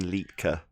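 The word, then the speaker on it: Liedtke: old worlds go to martin litki l-i-e-d-t-k-e that's martin litka that's how you say it welsh guy and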